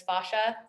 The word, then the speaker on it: fascia: it's about fascia and that's their original pronunciation is fascia i tend to say fascia it's the american in me so fascia is the